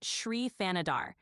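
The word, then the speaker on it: Shri Thanedar: Shrianader. How is that? How do you say her name? Her name is pronounced Shrianadar.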